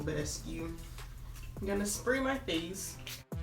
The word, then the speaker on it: Badescu: I've been saying Bad As You. I'm pretty sure that's not how you say it, so I'm gonna say Mario Badescu.